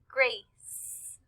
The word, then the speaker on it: Grace: We can see that the name Grace has the soft C in it, and we can hear it at the end. Grace.